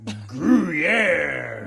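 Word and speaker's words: Gruyère: Gruyere. Gruyere. You gotta say it like the French.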